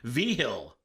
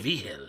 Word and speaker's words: Vigil: Vigil. That's cool. What's the etymology there? What is that? Where does that name come from? So that's a Spaniard last name. Vigil. From Spain. Wow.